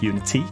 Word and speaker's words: Unity: I already struggled saying that because it could be Unity, that's how I say it. and my wife's British, so it's like Unity. You actually pronounce the T. Or sometimes when I say it with it's Unity, it rolls off a little bit nicer.